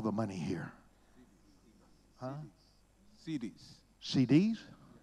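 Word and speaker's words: cedis: CDs? Am I saying it right? I'm not. CDs.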